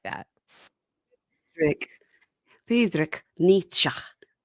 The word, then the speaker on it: Nietzsche: Friedrich Friedrich Nietzsche. I just did a Google thing where it told me how to pronounce it. Nietzsche. Okay. So we were both saying it wrong.